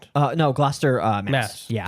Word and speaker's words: Gloucester: Glouster. This is one I actually am unfamiliar with. This is fairly 100%. Glouster Rhode Island. Uh, no. Glouster uh Mass.